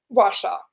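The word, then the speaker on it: Ouachita: a t a w so that people can pronounce it it's a tough one washaw I love that wash wash wash okay I'm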